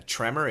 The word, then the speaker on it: tremor: A tremor is an earthquake. Wine cellars, Cellars. Now listen to the pronunciation. Tremor, cellar. One ends in OR, the other ends in AR, but the pronunciation is the same.